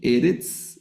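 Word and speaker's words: ארץ: Eretz, el acento, estas dos palabras, observen, de acá abajo, se leen Eretz, no, el acento va en la penúltima sílaba.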